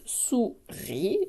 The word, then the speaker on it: souris: Et par contre, là, on voit bien, il y a aussi une petite lettre muette, c'est un S. C'est très exceptionnel de mettre un S comme ça à la